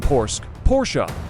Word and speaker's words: Porsche: Porsche AG German pronunciation Porsche.